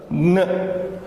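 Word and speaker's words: ङ: K, K, G, G, Ng. Now this is to be pronounced like N, G in English. Ng, ng. Like in the word king, sing, going.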